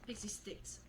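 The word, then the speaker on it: Pixy Stix: Pixie sticks.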